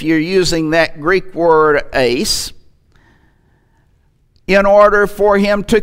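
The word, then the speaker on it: εἰς: The Greek word is the word eis, or ice as some pronounce it, and it never refers to action in the past.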